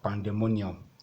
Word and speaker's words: pandemonium: Then you have pandemonium and so on. Pandemonium, you have to stress the mo, then and so on like that.